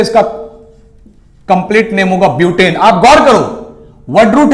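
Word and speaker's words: but: है चार के लिए बी यू टी बट मत पट देना इसको ब्यूट प्रोनाउंस एशन भी परफेक्ट होना चाहिए ब्यूट ब्यूट सभी के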